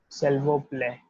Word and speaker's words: s'il vous plaît: Please will be just like delivered as it is written, s'il vous plaît, s'il vous plaît, right?